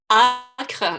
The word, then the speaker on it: ACRE: As you can notice, Giulio, I pronounce ACRE the French way.